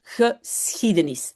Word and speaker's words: geschiedenis: Donc rappelez-vous, le SCH on d'abord on prononce S et puis le Donc CH c'est ch geschiedenis.